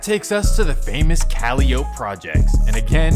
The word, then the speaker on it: Calliope: And that takes us to the famous Calliope projects. And again, it's supposed to be pronounced Calliope, but this is New Orleans.